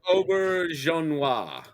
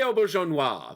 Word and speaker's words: Auberjonois: Auberjonois. Jean Noir, yes. Rene Auberjonois, the most French name that can possibly exist.